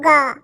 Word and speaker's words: gay: जी से होता है दोस्तों ग, ए आएगा तो ए के तुरंत बाद वाई आएगा तो उसको उच्चारण ए के रूप में गे, तो GAY क्या पढ़ेंगे गे, एक बार समझिए।